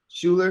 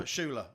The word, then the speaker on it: Schuller: Am I Appreciate pronouncing the name right? Schuller, Schuller, yeah. Schuller.